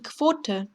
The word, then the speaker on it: Quote: Die Quote, die Quote, 쿼트가 아니라 쿼트라고 읽습니다.